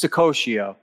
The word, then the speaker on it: Saccoccio: friends and uh oh you're saying my name wrong what's the matter with you what's the code i did that to the last guy who also had an italian name so it's just not my forte you gotta learn how to say the names over here it's sakoshio and uh mr pocket